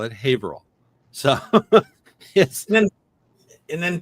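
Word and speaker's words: Haverhill: Uh and same thing with Haver Haver Hill. A lot of people think that's how it's pronounced but a lot of people that live there call it Haveril.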